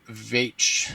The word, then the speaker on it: Veitch: Rick Veitch Veitch Vetch. I've heard it pronounced so many different ways. I think it's Vetch Rick Vetch is the writer.